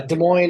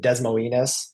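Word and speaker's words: Des Moines: You close to De Mo is it's De Moine. Is that correct? Uh yeah, it's uh De Moine is how it's actually pronounced. Uh everybody likes to pronounce it Desmolinas around here just because it's funny.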